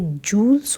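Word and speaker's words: jewels: ये यहाँ पर एक प्रोनाउंसिएशन में प्रॉब्लम है, ये जूल्स होता है, ये ज्वेलरी नहीं होता है, ज्वेलरी होता है।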